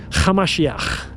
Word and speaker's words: Hamashiach: His real name was Yeshua, Hamashiach. That's how you pronounce it in Aramaic.